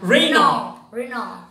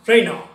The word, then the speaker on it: Renault: pronounce it right no oh that's correct that's Renault many Phil Collen Renault Renault no it's simply Rana Rana and because it's the difference many of the